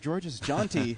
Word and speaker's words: Georges Jeanty: And we are honored to have George's Jeanty, correct? Is that how you pronounce it?